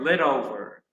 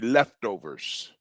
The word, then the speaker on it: leftover: I just learn the word le over. Le over. That's Well, let let's talk about that. That's right. That's better. That's better. So that word the pronunciation will be leftovers.